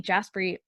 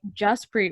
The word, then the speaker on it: Jaspreet: And then she was like, Jaspreet with like a U.